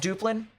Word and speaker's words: Duplin: rest of the night it's pronounced Duplin my apologies um I'll pronounce it as Duplin from now on but I think Onslow